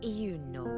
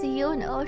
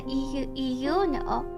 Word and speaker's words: Euno: She does say like the e. It's not quite like just yuno. She says it like a euno.